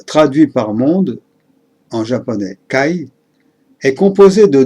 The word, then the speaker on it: 介: Quant à la partie du bas, qui se prononce kai, elle représente, entre autres, un homme en armure ou le fait de s'immiscer dans un espace.